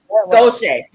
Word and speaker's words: Gautier: She said, "Gauche." And I'm like, "Spell that." And when she spelled it, I was like, "Yeah, I passed through there before." I don't remember how it's spelled, but it's got a Gautier. that one. Gauche.